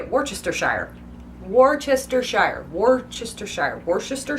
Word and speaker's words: Worcestershire: with worcestor okay worcestor I say it Worcestershire Worcestershire okay now apparently this changes in